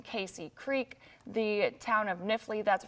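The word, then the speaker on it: Knifley: it's right over the town of knifely at this point just out I'm sorry niffley that is I mispronounced that town so the town of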